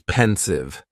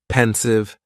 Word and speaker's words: pensive: Next is pensive, and the pronunciation is very easy. Just 2 syllables, and the stress is on that first syllable. Pensive, pensive.